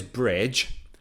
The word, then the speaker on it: bridge: or another example is bridge bridge so again d silence a bridge bridge we have to go over